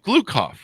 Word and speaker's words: Gloukhov: I believe Gloukhov, if I have that pronounced correctly, don't I, Michael?